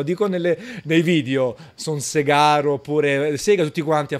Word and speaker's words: Sega: konami tranquillamente un po come sega esiga sono storpiature all'italiana siga chiaramente è diventata tale anche